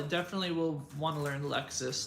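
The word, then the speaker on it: LXS: There's Lexus, like L lowercase x s. They pronounce it Lexus.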